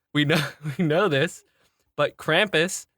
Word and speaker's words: Krampus: We know from voice class that our definitive vowel sound is ah. We know this. But Krampus, said correctly by our accent, is Krampus, which sounds like you're like crumping.